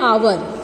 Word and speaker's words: hour: Then when we are using an, then like see, I played for an hour. See, H is silent over here. We are saying hours, so it is starting with O-U-R.